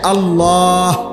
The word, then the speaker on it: আল্লাহ: উচ্চারণ হইতে হবে শেষে আল্লাহ শেষে একটা গোল হা আছে ছোট হা আল্লাহ মানে আল্লাহু তো